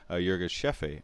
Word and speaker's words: Yirgacheffe: Antonio what's brewing Ethiopia Yirgacheffe or Yirgacheffe a as it's normally actually supposed to be pronounced I've learned so you're give chef is how people say it in the United States but everywhere else in the world it's called Yirgacheffe a so I'm gonna add